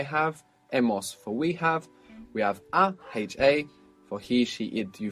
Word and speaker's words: ha: Now we go to the other vowel. A. Ah. H-A, all by itself, H-A, means she has, it has, he has, you form will have.